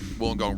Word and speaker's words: Wollongong: 28 years old, hails from Wollongong in New South Wales. Wollongong rhymes with one of the major utensils they used to have fun back in the day, down there in the gong. It's a bong.